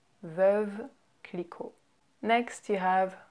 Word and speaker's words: Veuve Clicquot: Next, you have Veuve Clicquot. Veuve Clicquot. Veuve Clicquot. So you can hear how we slur words very much. We don't say Veuve Clicquot. It's Veuve Clicquot. Veuve Clicquot.